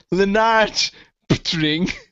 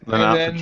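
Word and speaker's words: Lennart Poettering: The ISC was saying, Mitzi was saying, his name is pronounced Leonard Patring. Yeah, Leonard Patring.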